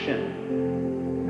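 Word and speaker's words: 心: Chinese mind is um this word pronounced shin and shin is here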